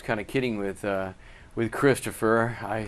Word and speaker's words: Christopher: your name i say my name is Christopher all three syllables a big story about